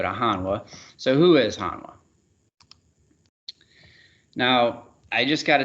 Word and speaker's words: Hanwha: booth we'll go to hanwha so who is hanwha now i just got a text message right